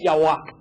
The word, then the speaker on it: Yahweh: En Israel no existe la palabra J, no existe. Entonces, descarten la palabra Jehová, porque ningún judío puede pronunciar la palabra Jehová. Así que esa palabra está totalmente descartada. Lo que más cercano que pudo haber llegado a sonar es Yahweh.